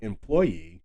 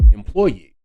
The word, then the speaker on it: employee: as his second choice the action should fall upon the third syllable as employee which is how I've